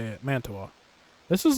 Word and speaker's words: Mantua: That's how you say it, Mantua.